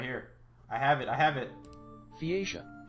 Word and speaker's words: Phaeacia: Phaeacia. Phaeacia. That's how you pronounce it.